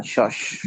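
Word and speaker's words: Schach: शॉश। शॉश, ये कौन सा खेल है सर? ये चेस को कहते हैं। चेस को कहते हैं शॉश।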